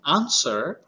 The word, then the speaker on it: answer: it is silent and whenever we are pronouncing answer we are not pronouncing W because the sound of